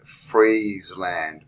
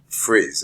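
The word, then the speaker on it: Friesland: can read that uh this is freeze land but it's spelled f r i e s r l a n d s s i think you like but it's not frizz it's not f r i s it's f r e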